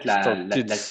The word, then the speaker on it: started: Le ID fonctionne mieux parce qu'en fait, là, si tu le disais avec un D, ça voudrait dire que il faudrait que tu prononces le T et le D en même temps, ce qui est quasiment impossible.